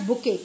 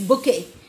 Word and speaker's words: bouquet: Which bouquet, do not pronounce it as bouquet, it is bouquet.